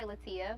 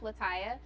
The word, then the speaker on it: Latiya: They always say Latiya, but it's pronounced Latiya.